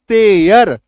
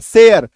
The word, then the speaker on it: share: लेकिन अगर हम लोग शब्दों की बात करें, स्पेलिंग की बात करें, तो इसी ARE को जब आप ऐड करते हैं SH के साथ, SHARE, तो उच्चारण देखिए क्या हो रहा है, सेयर।